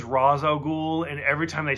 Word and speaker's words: Ra's al Ghul: Like, there's nothing to do with Ra's al Ghul or anything.